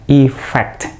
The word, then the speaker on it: effect: kalau kita ngomongin efek ingat bacanya efek pernah shootnya itu efek bukan efek huruf e-nya itu dibaca i-like-you e-fx efek berkelas kata 6